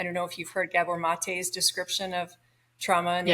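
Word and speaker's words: Maté: addiction yeah he's a Gabor mate g a b o r m a t e and then uh the E is pronounced a mate he um he was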